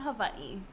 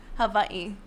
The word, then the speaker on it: Hawaii: okay say it again Havi Hawaii yes I'm like where is Hawaii that's how oh I never I never uh heard nobody call it yeah in the Hawaiian language the W is pronounced VA okay okay so what